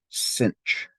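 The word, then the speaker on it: sinh: to thex over 2 this is pronounced cinch the other one Kos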